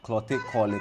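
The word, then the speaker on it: Klottey: Zenator Ajiman Rawlings, the incumbent member of parliament for the Clotte, which is a proper way to pronounce it, Clotte constituency.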